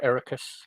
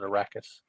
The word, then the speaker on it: Arrakis: All right, so we start off with we're on Arrakis, or Ericus. I pronounce it Arrakis.